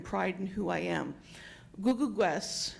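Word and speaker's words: Kukukwes: Googleguest is how you pronounce it. You pronounce the K's as G's.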